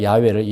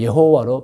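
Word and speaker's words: 야훼: 신은 한 분이라는 거예요 그분 이름은 야외 히브리어로 야외입니다 우리 한국에서는 야외를 여호와로 발음하여 부릅니다 여러분 그러므 기독교는 기독교는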